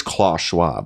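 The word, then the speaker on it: Klaus Schwab: was correcting me about Charles Schwab it is Claus Schwab clus yeah I I think isn't the English pronunciation of it Char I think it's Charles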